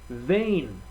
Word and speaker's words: vein: Not a single A in the word, and yet you hear the long A sound.